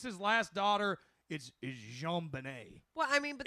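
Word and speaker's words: JonBenét: He names his last daughter is Jean Benet. Well, I mean, but It's spelled just like his name, but it's pronounced this French fuckabout way.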